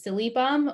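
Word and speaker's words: Silybum: for milk thistle is silly bum which is kind of a fun name to say silly bum uh it's it's spelled s-i-l-y-b-u-m so it's missing an l but silly bum um and so again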